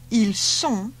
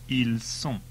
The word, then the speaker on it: ils sont: Notice all the plural ones end in ont and are pronounced on. Il est. Ils sont.